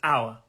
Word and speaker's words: hour: let's crack on to our first word let's make it big it's two words it is two words the first word is our and the second word is our it's the same pronunciation exactly so the first word